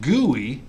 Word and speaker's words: GUI: interface, command line, or graphical interface, or GUI, pronounced GUI, but spelled GUI, graphical user interface, right?